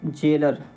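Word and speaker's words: gaoler: next word है आपका जेलर यह एक्चुअली जेलर की स्पेलिंग है और स्पेलिंग जेलर देख लीजिएगा जी ए ओ एल ई आर जेलर का मतलब क्या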